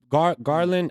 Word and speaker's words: Garland: Them Garland, I said it right. Garland and Yeah. Mitchell playing together. Yeah. That's Oh, right. okay, I is used it to say first? Gallard.